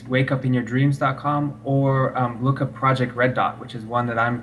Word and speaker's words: Rud Dot: It's actually it's spelled Project RUD dot. So it sounds like the color red, but it's spelled with a U instead of an E.